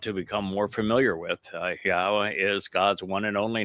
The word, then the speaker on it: Yahweh: There is the yah conclusion of the the name which certainly tells you how to pronounce three of the four letters in Yahweh.